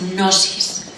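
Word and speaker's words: gnosis: una palabra griega que que es nosis se escribe con g g n o s i s nosis nosis en griego significa conocimiento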